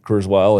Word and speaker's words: Kurzweil: Am I pronouncing it? Is it Kurzweil? Kurzweil, yes.